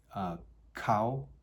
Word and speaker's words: Kou: Couple, Kou, I believe is how you would pronounce that, K-O-U, is intense, driven encounter, at once transitory and enduring, that is the reflection of primal yin and yang.